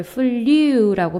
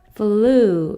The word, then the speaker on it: flew: 그래서 U라고 발음 안 하고 우라고 발음을 해서 이거를 flew라고 발음 억지로 하실 필요 없고요. flew 이렇게 자연스럽게 발음해 주시면 돼요.